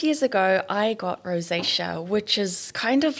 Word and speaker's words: rosacea: A rosesia. How do you say? Oh, rosacea. Rossacea.